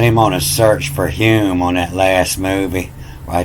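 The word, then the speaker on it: Hulme: how do you pronounce hume you don't pronounce the l and you can see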